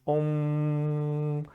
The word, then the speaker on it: Om: There are 3 letters in Om. It's A, U, and the final, it's spelled usually M, but it's a nasalization at the end of Yud. So it's Om.